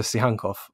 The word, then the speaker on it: Tsygankov: Am I getting it right with Viktor Tsygankov? Yeah, Tsygankov's fine. Oh, perfect.